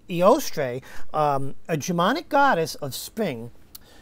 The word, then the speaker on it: Eostre: So, oh, okay, it's Eostre, a Germanic goddess of spring.